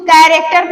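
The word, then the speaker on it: character: सी एच से च होता है लेकिन यहाँ पे सी के बाद अगर एच है तो इसको कैरेक्टर पढ़ेंगे।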